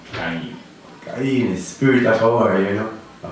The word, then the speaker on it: Ky-Enie: I was listening to hear how you pronounce it, because a lot of people have the more twist. I just have to wear Ky-Enie, Ky-Enie, so you got it right.